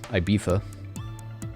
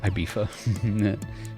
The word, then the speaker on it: Ibiza: There's so many different pronunciations. I think it's... I want to say I'm being Spanish accurate, saying Ibiza. Or Ibiza. There's a lot of sort of... There's a lot of tongue on the teeth with a lot of Spanish words.